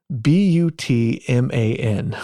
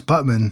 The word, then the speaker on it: Butman: going to ask you guys how you would pronounce this b u t m a n how butan if it was butan it would